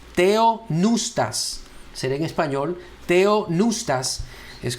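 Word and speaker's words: θεόπνευστος: Lo escribí en español, tratando de verdad hacer énfasis en la forma que nosotros lo pronunciamos. Theopneustos.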